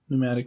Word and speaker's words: pneumatic: Pneumatic drills. Yeah. Pneumatic. Why is there a freaking P in front of it if it's not if you're not even gonna pronounce it?